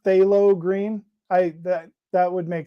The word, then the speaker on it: phthalo green: used it yet so we will get there phthalo green bob ross so it's pronounced phthalo green i that that would make sense bob ross